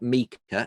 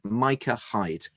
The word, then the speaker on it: Micah Hyde: that one for Watford is pronounced Micah Hyde. It's not Mika, it's Micah Hyde.